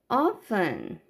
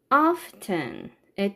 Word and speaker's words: often: 참고로 often, often의 T 사운드는 해도 되고 안 해도 돼요.